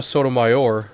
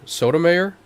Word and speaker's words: Sotomayor: Writing for the three, Justice Sonia Sotomayor, that's how you pronounce it, right? Sotomayor? Sonia Sotomayor. Okay, yeah.